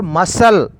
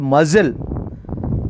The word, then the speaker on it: muscle: Muscle. It is a muscle, not muzzle. Muscle. C is a silent.